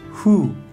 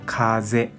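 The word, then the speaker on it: 風: Onyomi pronuncia fu, fu. Kunyomi pronuncia kaze, kaze.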